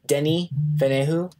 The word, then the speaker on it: Denis Villeneuve: this guy's name, but I'm gonna try to say it the way the cast says it and all the documentaries I've watched. Denis Villeneuve.